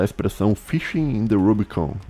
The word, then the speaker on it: Rubico: era um rio tá o nome dele é rubico rio rubico em latim em italiano é rubicone em inglês é rubicon e em Português é